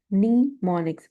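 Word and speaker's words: mnemonics: Nemonics. See the pronunciation.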